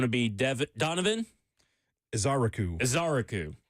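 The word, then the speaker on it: Ezeiruaku: Azaraku based on the pronunciation guide from the the Tennessee Titans.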